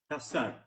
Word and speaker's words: Cesar: Kassar. It's Cesar. pronounced Kassar.